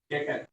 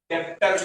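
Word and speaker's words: debtor: क्या डेटर डेप्टर नहीं बोलना है क्या? डेटर मी साइलेंट डेटर।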